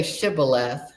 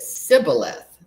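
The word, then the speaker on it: shibboleth: So, he was supposed to say shibth, but he pronounced it cyth because he couldn't say it right.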